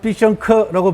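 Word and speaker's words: 必胜客: 들어왔죠 피자옷 들어왔죠 그죠 중국 사람들은 피션 커라고 발음을 합니다 예 한자로 피자옷 들어와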